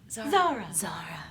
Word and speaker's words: Zara: You have to say it like that. ZARA.